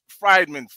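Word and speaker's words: Friedman: And then what he did was he posted the Jewish name freedman, F-R-I-E-D-M-A-N. Right. Freedmen. They pronounce it Freedmen.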